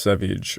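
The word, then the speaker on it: Savige: Landing getting General Savage who should be pronounced Savage I'm very aware of that I just keep calling him Savage I can't help it needed some reinforcements on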